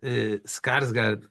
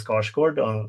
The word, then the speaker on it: Skarsgård: I wish I could pronounce his last name the way Like you just did. I know. I've been calling him Skarsgård. Skarsgård. Wrong. I just realized how wrong I've been saying it.